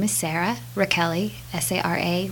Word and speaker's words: Rachele: my name is Sarah Raquel II SAR a last name is like Rachel with an e I like to tell people to remember the the pronunciation they can call me smelly Raquel E nobody's ever called me